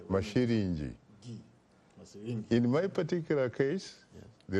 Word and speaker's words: Masilingi: I would say Masilingi. Pronounce it correctly. Masilingi.